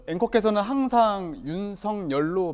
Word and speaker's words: 윤석열: 많이 발음할 고유명사가 토해요 어 엔코 께서는 항상 윤성 열로 발음 하시잖아요 예전의 그 어린 시절부터 친구들이 성령으로 불렀다는